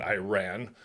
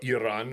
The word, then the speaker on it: Iran: Now, looking at the controversies that's going on between Israel and Iran, or Iran, as it's properly pronounced, looking at the conflict